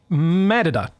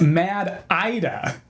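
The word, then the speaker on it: MADDIDA: Uh Matta, I believe is the name. Wrong. Uh I have it on good authority. It's Mad IDA.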